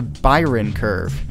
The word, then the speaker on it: Bayern Kurve: episode 19 today we'll be talking about the Byron curve now many native English speakers actually pronounce it quite differently than that but that